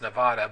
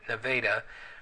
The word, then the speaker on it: Nevada: and Plano and n n Neva it's not pronounced Nevada but nadaa you've got Plano and Wy so there's 80